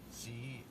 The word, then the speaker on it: Cauchy: And what he has theorized is inside of a black hole, there's a space called, I believe it's pronounced Cauchy space. It's C-A-U-C-H-Y, Cauchy space.